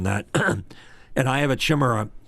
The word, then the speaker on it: Chimera: If you get a big diffuser on that, and I have a chimera is the correct way to say it without chimichanga.